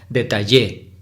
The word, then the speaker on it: detalle: talle son tres sílabas cuál de esas ela será la sílaba tónica pues hay que exagerarlo un poco para identificarlo detalle chino sería tal si fuera la sílaba tónica ende se pronunciaría detalle y si fueran en la última sílaba en yes sería detalle y no entonces sabemos identificar que la sílaba tónica es la del medio está detalle muy bien